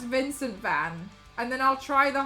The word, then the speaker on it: van: But rather in Dutch they say van. Van. Shorter with a more open A sound.